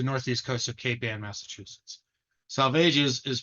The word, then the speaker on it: Salvages: cape and the Northeast Coast of capan Massachusetts salvages is pronounced to rhyme with aages Groner is a